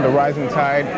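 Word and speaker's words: The Rising Tied: I love your album, The Rising Tide. What's the meaning behind that? Well, we spell it, when you say it, it's just the rising tide, like the ocean, but it's actually spelled T-I-E-D.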